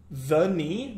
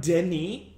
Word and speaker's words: Denis: The knee, not Denis. Hubert Denis Villeneuve is pronounced the knee Villeneuve.